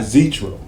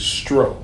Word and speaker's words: Zztro: It's not Zztro. It is Zztro.